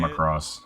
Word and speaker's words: Macross: This week we're going to talk about, I think I'm saying it right, Macross Plus. Is that how you Yeah. say it? Macross.